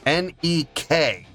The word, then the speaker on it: Nek: Nek. Just nek. Not neck k.